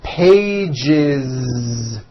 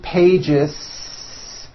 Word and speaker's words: pages: in a voiced sound one page becomes two pages with that voiced Z two pages it's not two pages unvoiced no it's two pages